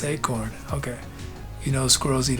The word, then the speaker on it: eekhoorn: He says, funny Dutch tidbit, squirrel means eekhoorn in Dutch, which is pronounced acorn.